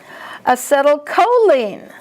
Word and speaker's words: acetylcholine: Acetylcholine. See, the CH is a K sound.